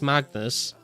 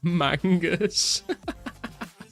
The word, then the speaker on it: Magnus: Like it's pretty like you it it's pronounced how it's spelled really. I don't know how you mess that up. Magnus He would say magnus. Magnus. Some probably said mangus.